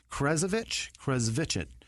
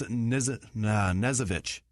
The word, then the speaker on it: Knezovich: Adrian, Nick, Krezovich. No, it's an N. That's Nezovich. That's it. Yeah. Because you don't pronounce the K, right?